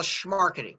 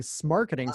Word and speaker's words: Smarketing: First of all, schmarketing. You got to say it Oh, like you're from schmar- Brooklyn. oh, There you go. schmarketing, There you go.